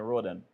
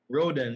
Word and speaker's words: Rhoden: road and is not a correct way of pronouncing your name yes let's go Rudy Rudy wrote your last name rodent rodent yes Peter I am fine thank you but